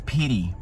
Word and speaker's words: pity: Então, pity, pity, tem esses dois T's, você vai pronunciar tipo com um som de R, né, pity, tem duas consoantes seguidas de Y, what a pity, que pena.